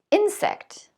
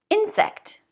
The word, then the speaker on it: insect: Insect. So do I say insect or do I say insect? Insect. All of these words have stress on the first syllable.